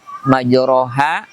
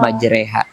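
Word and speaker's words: مجريها: Contoh, umpamanya majroha yang secara harakat iya, penulisannya dibaca ro, akan tetapi pembacaannya justru harus dimiringkan dibaca majreha.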